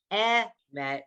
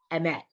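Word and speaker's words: אמת: So, it's not emet, it's emet. It shortens it. It's like where you put the syllable, okay? Like the emphasis on the syllable.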